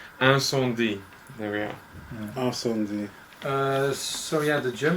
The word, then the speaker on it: Incendies: Okay, we haven't been pronouncing it properly. I think it's Incendies.